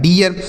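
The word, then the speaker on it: dear: आर से र लिखा है डियर। यह होगा इसका सही उच्चारण।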